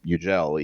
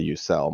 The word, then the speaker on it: Yücel: u c l but the C is in Turkish is pronounced as a j so it's ugel even though it's you know people say youel my dad my dad